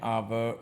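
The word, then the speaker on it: hour: एयर एन ऑनर एन आवर और an honest man ये सारे के सारे ऐसे वर्ड्स हैं जिनमें एच साइलेंट है और इनके साथ आप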